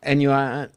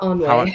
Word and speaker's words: ennui: Ennui. How do you pronounce it? Ennui? Is it? It's not quite. It's not Anway.